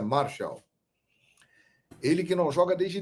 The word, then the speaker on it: Martial: Se escreve Martial, mas a pronúncia francesa é Martial.